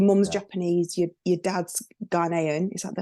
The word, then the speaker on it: Ghanaian: Japanese, your dad's Ghanaian. Is that how I pronounce it?